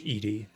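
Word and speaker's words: Edy: get ready for eddie although her name's edie or it's pronounced edie but i prefer eddie another is that a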